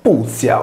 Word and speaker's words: Pythia: La Y si leggeva come una U, nome pronunciato Puthia o Puthia a seconda della sillaba su cui accadeva l'accento, con riferimento al pozzo,